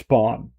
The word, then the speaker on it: pan: In Spanish, I think it's pan. Or is it the pronunciation pan? It's pawn. Yeah, that's the pronunciation for bread.